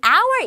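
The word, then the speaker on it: hour: 시작했어요 뭐만 이에요 그런데 이 아우의 이라는 단어는 h 발음이 없고 모음 소리로 나와요 몸 소리로 시작을 해요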